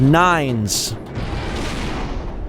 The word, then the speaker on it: 9S: I really think he prefers for it to be pronounced nines pretty sure it's a it's a European name nines 9s 9s Black Box